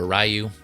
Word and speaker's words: Ryu: switch over to uh Ryu or rayu however you prefer to pronounce it again same price 26